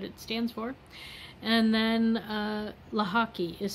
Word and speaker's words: Lochocki: And then Lochocki is spelled, not at all how it's pronounced.